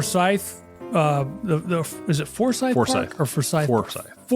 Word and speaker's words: Forsyth: In Georgia it's Forsythe. Oh okay. In Savannah, it's Foresight.